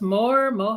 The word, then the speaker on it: Moher: Is it pronounced Moher?